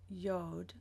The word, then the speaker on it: Yod: So when we look at the ancient Hebrew alphabet on Wikipedia, it's the number 10, Yod, and I've also seen it pronounced Yod, Y-O-D.